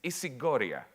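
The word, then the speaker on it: ισηγορία: significant i'll spell it i'll pronounce it in greek it's isigoria the concept of isigory which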